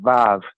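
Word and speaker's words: וו: Verse 41, and it says here in your Bible, "Wah." I guess somebody could say "Wow," because you could really get excited about it. But it says "Wah," and in modern Hebrew, we pronounce it "Vav."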